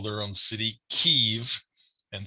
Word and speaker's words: Kyiv: Ukrainians call their own city Kyiv and spell it K-Y-I-V.